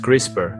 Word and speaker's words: CRISPR: Crisper gene editing, pronounced crisper.